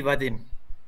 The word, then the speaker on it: Vadim: You can call me Vadim. Vadim? Vadim, yes. Okay, all right. Can you spell that for me?